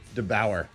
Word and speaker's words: DeBoer: DeBauer.